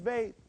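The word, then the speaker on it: ב: In modern Hebrew, it's pronounced as beyth. Notice the difference between modern and the ancient. Beyth. Beyth.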